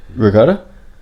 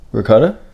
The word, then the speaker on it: ricotta: Ricotta. Say it again. Ricotta. It sounds like you putting a G in it.